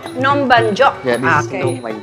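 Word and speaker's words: Num banh chok: How do you say it in Cambodian? Nom ban chok. Nom ban chok.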